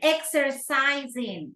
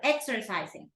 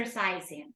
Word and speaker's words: exercising: hair things like those and exercising right that's the word exercising I stopped exer exising right and when you were